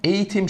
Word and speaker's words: eğitim: yerleşme söz konusu oluyor örnek vereyim evde Team demiyoruz zaten eğitim şeklinde telaffuz ediyoruz bunu da herhangi bir